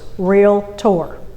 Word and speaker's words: realtor: realtor you're a realtor lesson number one it's two syllables real tour when somebody calls you